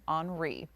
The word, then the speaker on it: Henri: it gets a little, that Henri thing, I thought it was Henry at first, and then it ended up being pronounced that way.